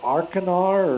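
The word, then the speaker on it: Achernar: And it's got a star at the very end, I think called Arcanar or something like that. I'm butchering the pronunciation.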